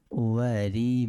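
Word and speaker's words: أُوَارِي: বাংলা উচ্চারণটা মিলিয়ে নিই, আলহামদুলিল্লাহিল্লাযী কাসানি মা উওয়ারি বিহি, উওয়ারি একালিফ টান, উওয়ারি বিহি একালিফ টান দিতে হবে।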